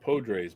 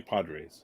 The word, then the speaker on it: Podres: Oh, and I guess his name was pronounced Podres, but I always like Johnny Padres. Johnny Padres, yeah. Spelled with an O, but I always pronounce it with an A.